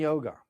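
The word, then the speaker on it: योग: Kundalini yoga. Excuse me. Kundalini yog. I don't like to say yoga. So you see it's in parenthesis. Yog is the Sanskrit pronunciation.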